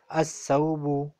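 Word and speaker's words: الثوب: As-Sawbu, Lam is silent.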